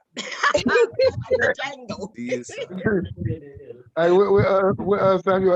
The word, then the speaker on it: Django: You told me, look, like the Django. Rugal say the D is silent. The Django.